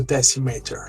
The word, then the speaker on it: Decimator: Yeah, the idea is actually you're pronouncing it right. It's to be called the Decimator, like a hardcore player.